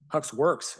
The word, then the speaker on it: Hux Wrx: Hux Wrx is how you pronounce it.